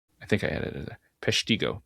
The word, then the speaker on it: Peshtigo: about it, but I don't know how to spell it. P E S H I T. I think I added it. Pesiggo.